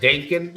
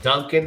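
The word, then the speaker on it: Dencun: It's spelled D E N C U N like Dankan, not like Duncan. I might have pronounced it Duncan.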